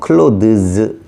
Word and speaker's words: clothes: 근데 여기에 es를 붙이면 갈고리 발음으로 변하면서 clothes, 요거는 옷이야.